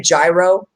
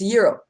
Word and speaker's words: gyro: can i get a gyro yeah that's not how it said it's called the yiddles it's a hero you know you know the g is silent like and you just